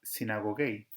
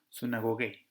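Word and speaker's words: συναγωγή: Bien, perdón, le va a sonar sinagogei, que es más parecido a sinagoga. nosotros como determinamos la upsilon, pronunciarla como U, va a sonar sunagogei.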